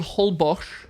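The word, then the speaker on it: Holbox: a beautiful beautiful place place called hbos but it's spelled hbox that sounds South African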